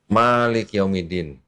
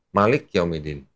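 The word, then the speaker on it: مالك يوم الدين: Malik Yaumiddin, ma-nya agak panjang. Nanti kalau di Maroko yang baca mushaf Waras bacanya cepat, Malik Yaumiddin.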